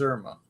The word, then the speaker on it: Irma: Which one's Irma? So she rhymes with sperma.